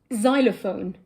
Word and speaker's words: xylophone: the end what about xylophone well that's different because it's pronounced z Oh yes so in